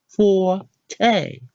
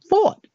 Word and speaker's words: forte: is Forte fo RTE what we been saying for teh how to actually say it is thought fo RT guys this one is a extra